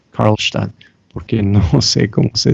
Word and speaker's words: Karlstadt: Voy a pronunciar eso en alemán, Karlstadt, porque no sé cómo se dice eso en español.